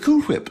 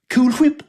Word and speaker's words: Cool Whip: it doesn't bother you the way i pronounce it cool whip no why would it cool whip i'm putting emphasis on the h sounds right to me nothing ever bothers you